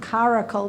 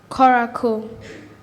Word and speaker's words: coracle: for the word koroku i have coracle and sort of caracal but it's coracle c beautiful thank you